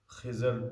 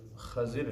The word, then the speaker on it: خضر: خضر لوگ پڑھتے ہیں اور اس کا صحیح تلفظ خضر ہے۔ حضرت خضر علیہ السلام